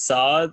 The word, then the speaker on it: Saad: His name is Saad. It's pronounced that way.